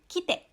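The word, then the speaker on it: きて: Jadi, kalau tidak ada tsu kecil di tengahnya, kita bacanya menjadi kite, ya, kite.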